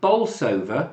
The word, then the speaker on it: Bolsover: Jordan says, I was born in Chesterfield in Derbyshire, and we used to live in a village called Bolsover. Yep. Is that how you pronounce it?